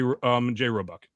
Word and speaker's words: Roebuck: Did I pronounce that right, Roebuck? Yeah, you got it right, Roebuck.